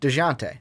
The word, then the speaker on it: Dejounte: DeJounte.